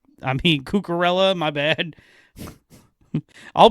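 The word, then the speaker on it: Cucurella: Um, Mark Cruella, I mean, Cuckarella, my bad. I'll pronounce one of these names, right?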